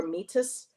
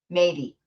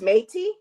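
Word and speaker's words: Métis: Um, uh, Andrea Menard is a claim met Metis or Mitus. She's a singer, songwriter, speaker, and founder of the Sacred Feminine Learning Lodge. Pronounced Matey. Matey. Oh, it's Matey.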